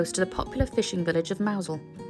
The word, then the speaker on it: Mousehole: popular fishing Village of maousel although it's spelled mouse hole it's actually pronounced mousel we potted around the